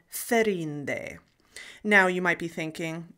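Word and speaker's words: Þerindë: So instead of Míriel Serinde, he pronounces her name Míriel Ferinde.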